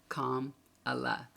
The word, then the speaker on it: Kamala: children come out and teach us how to say her name Kamala commala and they call her